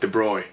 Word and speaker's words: de Broglie: travels as waves and de broglie you pronounce it the broy but the broglie he